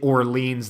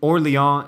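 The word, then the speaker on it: Orléans: little-known country um but they don't call it orleans there or lyon is the french pronunciation uh so they're they're they're using orleon is the uh the french pronunciation of orleans i i so there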